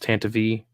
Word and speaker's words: Tantivy: that's how Pablo said it's supposed to be pronounced Tantivy prepare the escape pods oh here she is